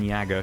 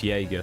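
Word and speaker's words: Jäger: to go amazingly well it's going yagger shall we as I sometimes call him otherwise known as Jagger to anyone who pronounces it correctly um I don't want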